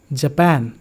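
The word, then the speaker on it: Japan: So first one, learner, pizza, situation, schedule, जापान, poem.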